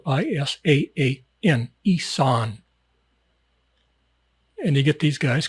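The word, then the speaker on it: Isaan: Isan. That's a huge, huge section of Thailand. It's spelled, in English, it's spelled I-S-A-A-N, Isan.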